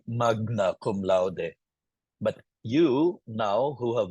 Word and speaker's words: magna cum laude: GN is always enye, like magna cum laude. Someone who didn't learn Latin will say magna cum laude.